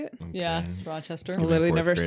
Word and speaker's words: Rochester: Rochester.